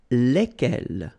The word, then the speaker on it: lesquels: And it will give you the pronunciation lesquels, all right? So final S is not pronounced. So here, when you get this L-E-S, okay, it's just like the article, if you remember, les, okay? So it goes like lesquels, all right?